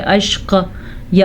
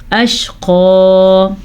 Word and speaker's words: الْأَشْقَى: کریں کیلے میں تو آپ پڑھیں اشق یا اشق کر دیں یا اشقی کر دیں، نہیں، اشقا.